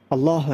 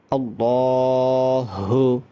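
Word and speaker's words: الله: আল্লাহ শব্দের লামের পূর্বে যদি জবর অথবা পেশ হয় তাহলে ওই লামকে মোটা করে পড়তে হয়। অতএব আপনি যদি বলেন আল্লাহ আল্লাহ যদি বলেন তাহলে পরিপূর্ণ শুদ্ধ হবে না অর্থাৎ ফুর হবে না বলতে হবে আল্লাহ আল্লাহ লামটাকে মোটা করে পড়তে হবে আল্লাহু বড় হাল্লাহু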